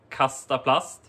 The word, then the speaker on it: Kastaplast: the name of the brand itself is called castaplust so for this youtube video uh i also